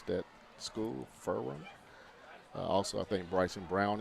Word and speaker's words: Ferrum: That's how you pronounce that school, Ferrum.